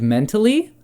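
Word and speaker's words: Mentali: not an Umbreon it was an Espeon named mentally spelled like m e it's kind of hard to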